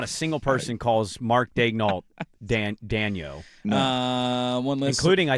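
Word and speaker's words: Daigneault: One listener is saying Mark Daignault, which I'm sure I'm saying that wrong. Daignault? He's saying it's supposed to be Daniel.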